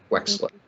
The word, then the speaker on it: Wechsler: It's pronounced like there's an X in the middle of it. Wechsler.